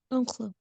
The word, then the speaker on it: oncle: Oncle, Oncle. Yeah. Okay. The final E here isn't pronounced.